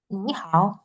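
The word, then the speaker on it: 你好: Nah, contohnya adalah di ni hao. Jadi di ni hao ini dia itu aslinya ni dengan nada tiga dan hao dengan nada tiga juga. Karena ada dua nada tiga di sini, berarti ni ini berubah menjadi Ini ni.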